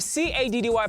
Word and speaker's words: Caddy: Today, as we feel, I go by the name of CADDY, pronounced Caddy, and I'm with my co-lovely presenter, TOMz.